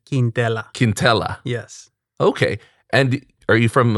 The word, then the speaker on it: Quintela: name quintella quintella but i always uh use a very simple pronunciation quintella quintella but the official pronunciation is quindella okay and are you